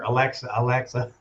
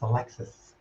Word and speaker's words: Alexis: I had been calling her Alexa. At last show that I saw her, she's like, it's not Alexa, it's Alexis.